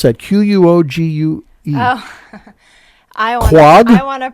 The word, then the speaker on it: Quogue: Quogue? Oh. I want to pronounce it COG. COG, everyone there pronounced it Quag.